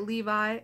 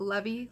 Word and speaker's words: Levi: pronouncing these names right Levi le VI and that's not levy Levi levy anyway okay so that